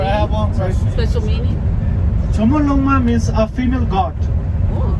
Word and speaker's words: Chomolungma: So at the base camp, at the roadside, they mention Mount Chomolungma base camp. It never mentioned the Mount Everest. Chomolungma spelled with a Q.